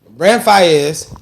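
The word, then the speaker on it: Brent Faiyaz: Brent Fayez.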